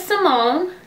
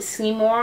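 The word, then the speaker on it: Seymone: My name is Simone. That's spelled S-E-Y-M-O-N-E. A lot of people pronounce it Seymour.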